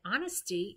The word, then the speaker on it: honesty: what is it ah so if you said honesty you're right so if we were to take a look at all of the clues that i gave you so i said we had a silent letter uh oop does it write okay that was the h then we had a